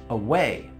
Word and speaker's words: away: Away. Below. Away, below. The stress is on the second syllable.